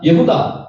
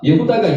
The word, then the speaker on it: 예후다: 예후다, 예후다가 유다를 원어로 발음한 겁니다.